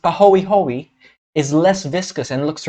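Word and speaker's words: pāhoehoe: hand this this other type of lava flow pronounced pahoehoe is less viscous and looks ropey because even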